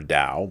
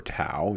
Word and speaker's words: Tao: And we'll talk a little bit more about the path of Daoism or Taoism depending upon what your pronunciation is. I prefer Dao but you may prefer Tao.